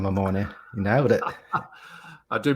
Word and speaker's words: Mamone: as I said, Mamone, but I'm going to say Mamone just because it's easier from #basketball. how are you, man? Mate, you almost sound Italian with that pronunciation of Mamone.